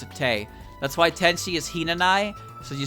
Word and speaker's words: Hinanawi: the way i do the w in tenshi's name is basically silent it's not like a